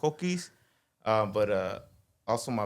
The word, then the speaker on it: Cokeys: uh my name is kis or yeah that's that's I go by kis how do you spell that cuz c o k Ys sure like Co Keys Co keys and how' that how'